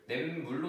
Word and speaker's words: 냇물: 근데 발음을 해볼까요? 냇물로 나요. 앞에서 시옷 소리가 안 나고 그냥 니은 소리가 덧나서 나네요.